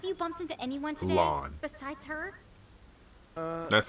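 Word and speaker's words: Lann: Lon. Besides her? That's how you pronounce it.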